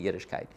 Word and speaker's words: Yiddishkayt: It's got to be K-A-Y-T. And I said, nobody's going to understand how to pronounce that properly. So we'll put the kite in so they'll get it. It'll be Yiddishkayt.